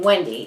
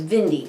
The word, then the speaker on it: Wendy: never say them right so he couldn't say my name Wendy it was Vindi always Vindi so and they said